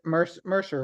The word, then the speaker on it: Mercer: And is it Mercer, right? Yeah. Okay. I just want to make sure I said it right.